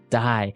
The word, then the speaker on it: dye: you're dying it okay die so it's pronounced exactly the same way as you know to die to not live anymore die but it's spelled